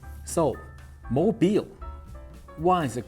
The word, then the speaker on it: Mobile: But it turns out there's an easy explanation of why it's called Mobile instead of mobile, because that's how the French pronounce it.